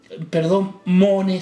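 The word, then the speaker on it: μονή: El cuarto, meno, de donde se deriva el sustantivo mone, se lee en español con acento en la E, morada, de los versículos 2 y 23.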